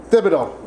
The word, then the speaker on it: Thibodeau: Thibodeau.